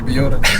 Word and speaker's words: BYOR: Otherwise it would be BJOR. Like in Dutch... Bjor. Yeah, Bjor, like that. But as I'm Byor, Americans and Englishmen call me Byor, some call me Bjor, Tiesto says Bjor, others Byor.